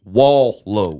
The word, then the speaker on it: Wallo: my First of all, your name is spelled W A L L O. So that's really wall low. Yeah, cuz it used to be a space in it like Rick Low, right?